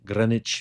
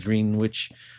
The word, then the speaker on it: Greenwich: get to this zakat I call it green witch Grenich Village not green witch first time I ever